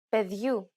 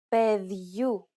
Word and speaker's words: Παιδιού: In the first, you will notice the addition of a sound very similar to the English Y in the word yard between the consonant and the opening diphthong. For example, Ζευγάρια. Παιδιού.